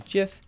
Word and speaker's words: GIF: gonna pause it oh how about the GIF and GIF thing uh it's a hard G yeah I mean you're